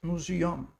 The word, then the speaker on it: Museum: So the museum is pronounced a little different and written a different little differently. In English it's eu m. In German it's u a m. So it's museum.